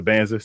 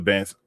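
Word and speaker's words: Dybantsa: It's the Banza. So you say the D and the B. All right, the Banza.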